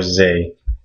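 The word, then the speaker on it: ز: The other letter in this family is z, or zay, but it makes the z sound.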